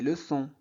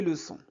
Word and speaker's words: leçons: Une leçon, des leçons. Faites attention, on ne prononce pas s. C'est bon. Une leçon, des leçons.